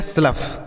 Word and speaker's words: slough: अगला SLOUGH, एस से आधा श, और एल से लिखेंगे ल, और OUGH को अफ, तो यह हो गया स्लफ। क्या होगा दोस्तों? स्लफ हो गया। क्या होगा? स्लफ। तो OUGH को क्या आपको पढ़ना है?